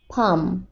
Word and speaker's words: palm: আর এই যে হাতের তালু, এটার ইংরেজি কি, পাম, PALM, পাম। এখানে আবার দেখো এল এর উচ্চারণটা সাইলেন্ট থাকবে, এল থেকে সাধারণত সাউন্ড হয় ল এরকম, কিন্তু এখানে এই ওয়ার্ডের উচ্চারণটা হবে পাম, এর অর্থ হাতের তালু।